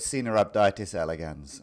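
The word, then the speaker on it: Caenorhabditis elegans: of the pronunciation um I've heard different pronunciations uh I'm not an expert on Latin but I I call it cab datis elegans and a lot of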